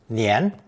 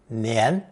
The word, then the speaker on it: 年: It's pronounced second tone, nian, nian.